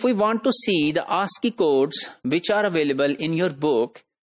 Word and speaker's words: ASCII: Code for Information Interchange, that is called ASCII, and that is pronounced as ASCII.